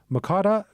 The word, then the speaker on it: Mokada: Mokada, is that yes, is that Mokada. how you pronounced it perfectly.